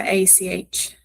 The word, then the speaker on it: acht: For some reason, the A, I know that like the ACHT, it catches me out.